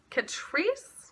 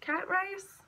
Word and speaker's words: Catrice: It is called the Liquid Camouflage High Cover Concealer by Catrice. Cat Rice? It's spelled like Cat Rice, but it's probably Catrice.